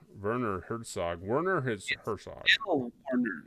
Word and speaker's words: Werner: Still Warner.